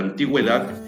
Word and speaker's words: antigüedad: A diferencia de la palabra antigüedad, en donde la u sí suena.